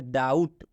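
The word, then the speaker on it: doubt: student करेंगे डाउट तो इसको हम लोग बी नहीं पढ़ेंगे बी का उच्चारण बिल्कुल आपको नहीं करना है इसको क्या पढ़ेंगे डाउट डाउट का मतलब संदेह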